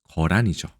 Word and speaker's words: 거란: 역시 단으로 읽는 게 확실한데 우리나라만 단이 안 되고 계단이 안 되고 거란이라고 읽습니다.